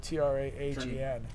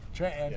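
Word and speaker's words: Tranten: Or just forget the NT and just go TRAHEN. Tranton. Tranton. It's like kitten mitten.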